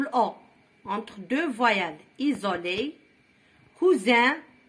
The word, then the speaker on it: cousin: نطقوها Z. Choisir, saisir, isoler, isoler, isoler entre l'I ou l'O, entre deux voyelles. Isoler, cousin, voisin, cuisinière, cousine, cousine le féminin de cousin.